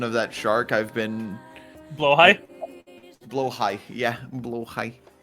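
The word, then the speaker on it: Blåhaj: pronunciation of that shark, I've been Blowhigh?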